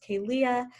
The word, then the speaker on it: Kalia: And then again, for anyone who doesn't remember, my name is pronounced Kalia. I know that if I don't go slowly with it, sometimes people miss it.